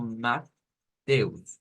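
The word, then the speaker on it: Matthäus: es bastante parecida verdad es como matus matus solo que en vez de una t como lo haríamos en español como mat es con la así con la th correspondiente un temblor un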